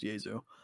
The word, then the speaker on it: Jesu: their wikipedia which is why i know it's pronounced diesel but uh wikipedia's genre descriptions were like shoegazing